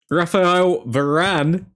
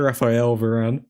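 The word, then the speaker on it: Raphaël Varane: Raphael Varane in the building. Butchered his name there. Raphael Varane.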